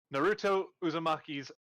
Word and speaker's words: Naruto Uzumaki: What is Naruto Uzumaki's favorite meal? HQ, can you confirm that I pronounced that correctly?